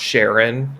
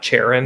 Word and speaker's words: Charon: I forgot that's pronounced Sharon and not Charon.